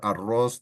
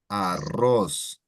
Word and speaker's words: arroz: So perro, when you have 2 R's, it sounds quite larger than when you have 1 R in the example ropa. Ropa is nice and loose ropa, and perro or arroz that has 2 R's, it elongates quite a bit.